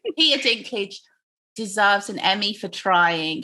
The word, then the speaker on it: Dinklage: they did especially um is his name peter drink glitch dinklage um drink glitch dinklage dinky i knew i was saying it wrong peter dinklage deserves an emmy for trying he was trying